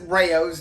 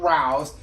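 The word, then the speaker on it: Rao's: we usually use rayos we have been corrected you pronounce it rayos not rouse this is usually what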